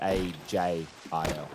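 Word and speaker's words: Agil: So, it is spelled A G I L, but it is pronounced A J I L, right?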